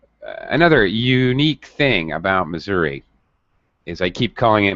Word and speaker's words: Missouri: in the state itself, it has two pronunciations. So even the people from Missouri sometimes call it Missouri. It's very interesting, and people all around the United States, Missouri, Missouri. You're going to hear many pronunciations.